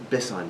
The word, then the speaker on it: Bisson: Bisson, B-I-S-S-O-N. I got it right. I'm probably the only person who pronounces it that way, so.